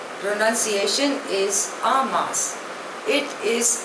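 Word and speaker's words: en masse: religious affinity the next word is अ मास spelling इ ई एम एम ए एस एस ई pronunciation is अ मास इट इज अ French word means all together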